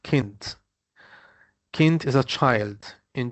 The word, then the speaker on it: Kind: It's the German term kind, but in German it mean it it's kind or it's pronounced k pronounced kint.